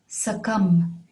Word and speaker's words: succumb: sucked his thumb all day another one is sakam which means die from the effect of a